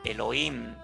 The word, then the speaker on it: Elohim: de manera plural entonces se le pronuncia como elohim porque en el principio